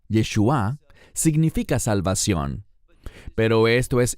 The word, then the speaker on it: Yeshua: La palabra Yeshua, no Yeshua, que es la manera hebrea de decir Jesús, sino Yeshua, con acento en la A, Yeshua, significa salvación.